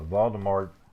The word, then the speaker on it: Voldemort: and harry potter uh voldemort voldemort okay so you're not supposed to pronounce the t according to what they say in the books but voldemort he tried